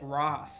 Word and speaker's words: wrath: the uk or something because we pronounce it roth not wrath and i i told